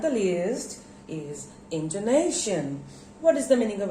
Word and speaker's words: intonation: intonation here you see i put used stress into nation when i say intonation so where do there are four syllables in to nation and where do i put the stress into nation name this syllable has got the stress now what is intonation